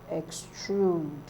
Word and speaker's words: extrude: Mountain mountain mountain mountain extrude extrude extrude extrude extrude is stressed on the second syllable so others are